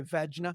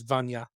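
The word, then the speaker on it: Vajna: I used to say Vagina. Vagina, and I think I'd still It like is to say it's spelled Vagina. it is Vanya.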